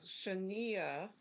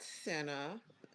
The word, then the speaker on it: Shania: So Shania, not Senna, even though it's spelled that way, you got to get her name right.